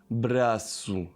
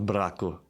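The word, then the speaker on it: Brasil: Braasu. Okay. It's not bracoas. Yeah. Peru. So So these are ending on the on the last syllable.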